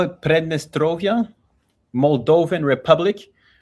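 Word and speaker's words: Pridnestrovie: What did you how do you pronounce it? They call it Prednestrovia, Muldovven Republic.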